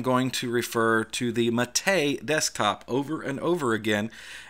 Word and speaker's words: MATE: with the correct colloquialisms the developers of a boon to MIT a call it Matei so therefore I call